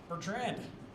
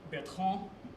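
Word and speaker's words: Bertrand: Bertrren, it's actually pronounced Betron.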